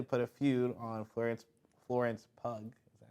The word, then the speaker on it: Pugh: together, which apparently put a feud on Florence Pugh. Is that how you say it? Pew.